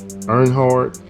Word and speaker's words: Earnhardt: front got deal Burkhardt Earnhardt and that's how you pronounce his name I'm not a NASCAR